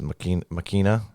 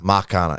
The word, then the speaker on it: Machina: And then other than that, I finished the episodes out of Vox Machina, whatever that last word Vox is. Machina.